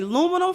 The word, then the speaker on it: aluminum: You know that's what we say, aluminum foil. Ooh, we don't pronounce that A.